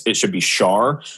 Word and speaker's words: Shaar: Like you pronounce it Shaar, S-H-A-A.